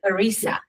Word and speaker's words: Larisa: Miss Larisa, like Teresa. Larisa.